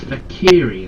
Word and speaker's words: Fek'Ihri: the fakiri ah so it's not F it's fakiri that's how you pronounce it yeah my reading is crap what